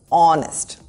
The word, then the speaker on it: honest: Once again, honest has a silent H and the first sound is O, honest.